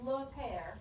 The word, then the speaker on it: père: Everybody say le père. Yeah, you don't say the last E. So this is le père.